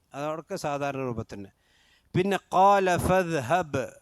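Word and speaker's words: فاذهب: പിന്നെ ഖാല ഫദ്ഹബ്, ഫദ്ഹബ് ബാക്ക് സുക്കൂനാണ്. ഫദ്ഹബ്, ഫദ്ഹബ് എന്ന് ഓതാൻ പാടില്ല, ബാഗ് ഇൽഹാർ ചെയ്തിട്ട് തന്നെ ഫദ്ഹബ് ബ് എന്ന് തന്നെ ഉച്ചാരണം വരണം.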